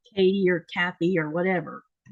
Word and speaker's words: Kathy: a t h y but here in Greenland that th sound is not part of the Greenlandic language pronunciation and people would just people will call it and I don't think it's part of the Danish one either um because they would call me Katie instead Kathy.